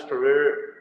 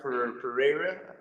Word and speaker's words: Pereira: say his name Alex perer okay is a Brazilian guy yeah is Alex Pereira I don't know the way you say his last name you have to like bring out like the Spanish